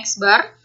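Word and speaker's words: x̄: Ini X dengan tanda garis di atasnya, dibacanya X bar.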